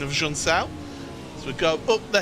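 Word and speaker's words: Junção: our producer hugo luis who uh corrected my pronunciation of jean-cell as we go up the hill it's important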